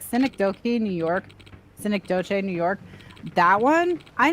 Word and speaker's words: Synecdoche: that I can't pronounce that word. It's some fucking Latin. It's like Synecdoche or something. Synecdoche? Yeah. Synecdoche is what it is.